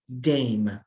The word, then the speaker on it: dame: job of teaching so we have to learn that the e is silent dame but in spanish i